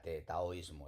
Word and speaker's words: taoísmo: de chino una d hay que pronunciarlo como t de manera que aunque aquí técnicamente ponga dao ismo lo pronunciamos como una taoísmo El tao también se